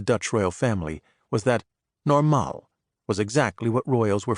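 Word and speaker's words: normaal: state of being that the Dutch referred to as normal, with the accent on the second syllable, a different thing altogether from the English normal.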